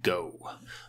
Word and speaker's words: GHO: at this go token it's spelled g-h-o like ghost and they're calling it go so they're US dollar stablecoin is going to be called go okay so he's looking